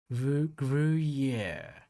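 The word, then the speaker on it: Gruyère: swiss french pronunciation how do you go about pronouncing this yeah yeah yeah yeah oh yeah okay gruyere all right well now i know the lower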